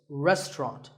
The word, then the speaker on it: restaurant: fancy spelling confuse you the second syllable is just ta and the third is rot so restaurant in British English you might hear just two syllables restaurant that is also correct after you eat at